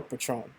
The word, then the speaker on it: patron: to catch on a patron day Tron patron that's how it's pronounced all right you you